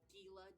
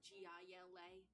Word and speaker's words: Gila: Is she the Gila monster? Well, it's spelled like Gila, Gila, but it's pronounced Gila.